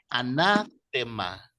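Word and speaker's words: ἀνάθεμα: En griego se pronuncia anátema.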